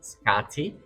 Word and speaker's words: Skadi: Scotty means damage or harm in old Norse and Icelandic pronounced Scotty.